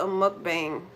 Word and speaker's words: mukbang: Watching someone eat is called a mukbang.